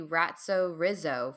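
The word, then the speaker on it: Ratso Rizzo: yes an acceptable pronunciation ratso rido Pest Control it's supposed to be ratzo Rizzo from the movie Midnight Cowboy okay and how many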